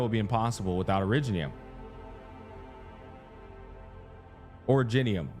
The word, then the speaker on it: originium: Originium. I'm saying originium. I'm a fucking idiot. Originium is how it's pronounced, chat.